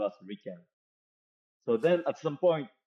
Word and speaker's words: RIKEN: and attach them so this is in Japanese pronounced as Ran So orinary people in Japan call us Rican so then at some point the Rican headquarter